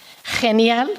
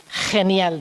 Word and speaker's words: genial: Genial, con acentuación en la primera sílaba y enfatizando la G. Genial, decía.